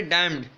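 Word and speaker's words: damned: फिर आप बुक में देखेंगे तो आपके पास वर्ड है डैम्ड, ठीक है ना. डैम्ड में आपके पास N साइलेंट है, ये आपको पास पड़ा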